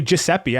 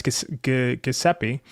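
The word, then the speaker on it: Gillespie: I always say I always want to say Jeppe. I know it's Gaseeppi.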